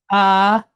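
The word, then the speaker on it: ארחות: So we have chot, chot. All right. So the word is arechot.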